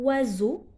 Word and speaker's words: oiseau: Parce que S entre deux, voyez, ça se prononce Z.